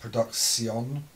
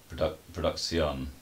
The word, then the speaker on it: PRODUX1ON: Okay, we're here with one half of the music production duo, PRODUX1ON. Joel Grohl. Pleased to meet you, Joel. Before we go any further, can I just say it's actually pronounced PRODUX1ON. PRODUX1ON.